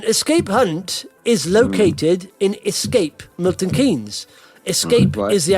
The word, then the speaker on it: Xscape: But it's spelt XSCAPE. See, it's a bit of a crazy twist on the Escape there.